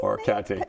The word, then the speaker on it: orecchiette: The or Orecchiette pasti? Orecchiette. Thank you. Pasta? Yeah? Thank you for helping pronounce it.